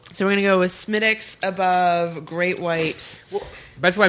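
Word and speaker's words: Smithwick's: whereas you this the smithwicks maybe uh smittix but it is spelled smithwicks it's like how I'm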